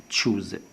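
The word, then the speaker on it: choose: هنلاحظ أن حرف CH طبعا هنا حرف مركبة. إذن CH بينطق كاف وبينطق شين وأيضا بينطق تش. هنا نلاحظ أن CH أخذ تش. بالنسبة لحرف الأو الأولى اتنطقت واو، التانية طبعا صمت عشان طبعا الحرف متكرر، والإس طبعا أخذ صوت الزين عشان طبعا وقع بين حرفين متحركين، فإن في هذه الحالة بياخد زين.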